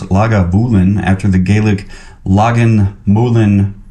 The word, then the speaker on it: Lagavulin: founded the first legal Distillery here at lulan pronounced lagavulin after the gelic Lagan Mulan the hollow where